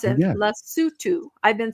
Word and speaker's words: Lesotho: Do you guys remember when I reported several times on what happened and I finally learned to pronounce it, Lesotho.